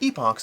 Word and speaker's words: Epochs: Also, fun fact, but Epochs is pronounced either Epic or Epoch depending on where you're from.